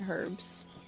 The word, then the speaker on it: herbs: pick some herbs herbs I just said herbs you don't pronounce the h i know that why